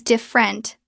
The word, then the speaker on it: different: It looks like different. Three syllables. Natural pronunciation. Drop the first e. It becomes different. two syllables.